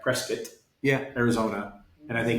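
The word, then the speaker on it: Prescott: Prescuit.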